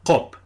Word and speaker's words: qop: las lenguas europeas, y que es distinto de la k, porque se pronuncia en la úvula o en la campanilla, se escogió la palabra qop, que significa mono.